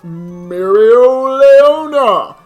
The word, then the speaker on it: Mereoleona: Next up, we have Mereoleona. Yes, that is how you pronounce that name.